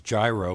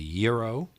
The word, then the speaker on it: gyro: is the word that people pronounce is gyro which is really gyro no key witness well both Greek and background we would pronounce a you know yeah with a very strong Greek accent I think but again you see the G and modern Greek doesn't have a hard G so it should be